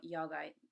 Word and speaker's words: yoga: Usually you'll hear, so yoga, you'll hear it called yog, pranayama, pranayam, asana, asan, kumbhaka, kumbhak, bandhas, band.